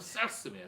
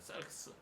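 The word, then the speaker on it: σάρξ: 예, 좀 짧게 얘기하면 싹스예요. 싹스. 그런데 좀 정확하게 발음하면 사르크스입니다. 사르크스.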